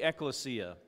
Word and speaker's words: ekklesia: sundays on the ekklesia say ecclesia remember you got to say it like you're an italian the ecclesia hey i